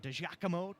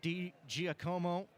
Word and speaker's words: DiGiacomo: Well, if you ask him, I don't know if he would really care which way you pronounce it, because he has said multiple things to us in the press box as to how to say his name. We've heard DiGiacomo, DiGiacomo, with a Q in there at the end.